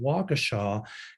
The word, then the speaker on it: Waukesha: The reason that I told people to, that I didn't tell people, but the reason I said it's pronounced Waukesha is because somebody had sent me a personal note, a personal email, how's it pronounced?